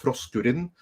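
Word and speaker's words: Froskurinn: But since Hypergiver 2 got us started on Froskurin, that's, by the way, how you pronounce it. Because for some reason, this woman decided that she wanted to learn Icelandic. And she calls herself Froskurin, which is Icelandic for frog.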